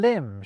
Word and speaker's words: limb: They thought thumb, crumb and limb should have silent B's, like comb, lamb and womb.